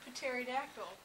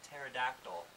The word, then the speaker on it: pterodactyl: And Pterodactyl. Actually, since it's the animal edition of Weekend Update, I think we should clarify that you don't pronounce the P in pterodactyl. It's silent.